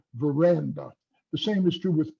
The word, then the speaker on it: veranda: Take a word like veranda. The middle syllable and is gets the main stress, and the ver to the left and the to the right are lesser stressed. You don't say veranda or you don't say veranda.